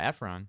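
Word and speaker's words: Ephron: Efron. I know. I was just giving the director Norah Efron credits.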